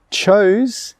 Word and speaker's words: chose: Chose, C-H-O-S-E, that word has a different vowel sound in the middle, ch-oze, ch-oze.